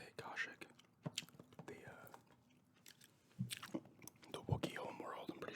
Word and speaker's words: Kashyyyk: That's how you say it, Kashyyyk.